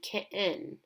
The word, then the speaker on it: kitten: An example of this would be kitten. Kitten is the schwa spelled with an E, and it's at the end of the word with an EN ending.